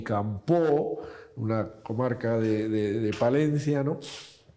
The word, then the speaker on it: Campoo: La verdad es que pronunciamos Campoo, Feijóo, pronunciamos una O tónica un poco alargada, ¿no?